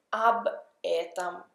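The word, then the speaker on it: об этом: questo strumentale con questo prepositivo OB et A proposito di questo ma si dice AB Etam quindi qui la difficoltà è che le o cambiano e diventano la a singolare femminile eta questa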